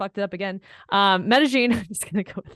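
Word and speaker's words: Medellín: see with Sarah G we were talking about Medellin Colombia Medellin well for this week's what to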